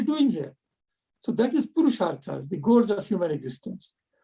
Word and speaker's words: Purusharthas: Or how do you pronounce it? Yeah. Purusharthas.